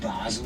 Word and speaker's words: Basel: those places and about 40 miles north of Basel in Switzerland. Now, some of you might know of Basel as Baal. But don't worry, both the same place. Baal is the French pronunciation and Basel the German.